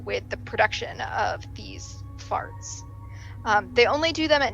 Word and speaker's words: FRT: repetitive tics which we use an acronym frt pronounced out loud as fart which is a pretty accurate